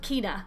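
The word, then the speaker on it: Cinna: Quintus Van Sina. Do they pronounce it Kina or Sina?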